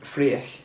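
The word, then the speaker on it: Fraoch: How do you pronounce it? Freich.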